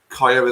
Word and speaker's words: Kyah: Is that how you pronounce it, Ben? Is it Kyah? Kyah Simon, yeah.